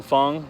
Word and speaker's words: Fung: Jason Fung, that's spelled F-U-N-G, Dr.